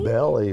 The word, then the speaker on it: Bally: Bally rhymes with Allie.